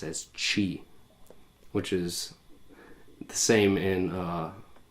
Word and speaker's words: chi: Christ in Greek actually starts with an X or the letter pronounced as chi, which is the same in Roman, actually.